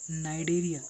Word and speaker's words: नाइडेरिया: Coelenterata, तो Coelenterata दूसरा नाम इसका है नाइडेरिया, नाइडेरिया, सी साइलेंट है यहाँ पे, ठीक है, सीलेंट्रेटा या फिर नाइडेरिया।